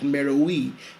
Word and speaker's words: Meroë: Meowi, also sometimes pronounced Meo.